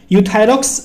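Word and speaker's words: Euthyrox: नाम क्या है यूथस यहां पे गा ई साइलेंट है सिर्फ यू पढ़ते हैं हम यूथायरॉक्स 100 के नाम से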